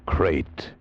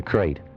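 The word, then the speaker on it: krait: a man trapped in his bed by a crate the most deadly poisonous snake in the world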